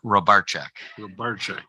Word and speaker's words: Rybarczyk: of college before I learned how do you pronounce it my name is Rob robarczak okay I'm the president of the Marathon County